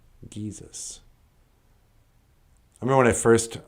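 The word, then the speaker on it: giizis: And Geesis is known the sun is known as the Geesis. Geesis. I remember when I first was reading Ojibwe, and I didn't understand the G's are always pronounced with a G.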